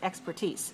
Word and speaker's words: expertise: expertise in that and that ending is ise and we kind of pronounce it a little bit like the french because it's a french word expertise so if you have